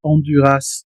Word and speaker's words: Honduras: Porque es una adaptación del español, por eso es que lo pronuncian onduras. Es como si dijeran, por ejemplo, tortillas, ¿no? Plural. La s funciona porque no es francés, es el español.